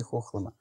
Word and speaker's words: Хохлома: Хохлома, почему произношение такое? Потому что стоит на речке Хохломка. Поэтому и произношение правильное — Хохлома.